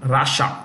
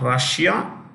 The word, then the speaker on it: Russia: Russia, not Russia. Yeah, no, it's Russia. Russia.